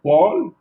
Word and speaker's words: pôle: Et lorsque je vais dire polaire ou pôle, vous voyez, donc pôle, je suis en train de prolonger la lettre O dans le mot pôle. Alors que dans le mot polaire, c'est bref.